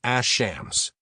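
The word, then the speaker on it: الشمس: For sun letters, the assimilates, so we say ash-shams.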